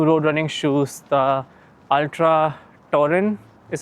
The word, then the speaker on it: Torin: uh my new road running shoes, the Ultra Torin is how they pronounce it.